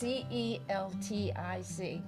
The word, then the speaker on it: Celtic: No, it's Celtic. Right, pronounced Celtic.